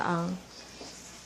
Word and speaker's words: ang: go to the pronunciation so ah it's like the sound of the young in English meaning not old but without the why so young and that's how you pronounce the arm so um is like